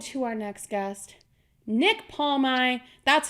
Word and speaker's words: Palmai: good like OED to our next guest Nick palmont that's how you pronounce his name everybody CU say everyone says